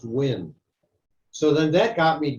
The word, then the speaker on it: Nguyen: I always thought it was pronounced Nguyen. And that's just the way it's been for 75 years. I learned a couple of months ago it's pronounced Win.